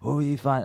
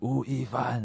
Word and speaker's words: 吳亦凡: Wu亦凡. That's my Chinese name, Wu亦凡.